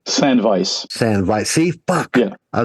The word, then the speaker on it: Sandveiss: good doing good too do me a favor pronounce your band's name San Vice San Vice see yeah I